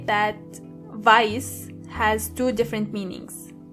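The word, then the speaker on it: weiß: Black means and make sure you are pronouncing the correctly. Exactly. White means vice. Vice.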